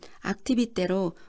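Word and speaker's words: Activités: A는 악티비테로 우리말로는 활동을 뜻합니다.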